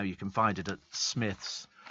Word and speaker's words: Smiths: a lot of the toys of oh it's pronounced Smiths is it spelled SM SM y THS Smiths